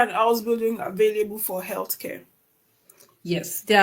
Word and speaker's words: Ausbildung: I need to pronounce this in the way Germans pronounce it. Ausbildung.